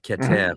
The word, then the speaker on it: Keter: We sit with the top sephira of Kether, of Keter in Hebrew, but like if it's written Kether, then pronouncing it Kether is just the English pronunciation.